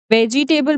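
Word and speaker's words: vegetable: ठीक है, ई जो है हमारा यहाँ साइलेंट है। ठीक है, ई का साउंड नहीं आएगा, नेवर। ठीक है, कभी यूज नहीं करना इसका साउंड।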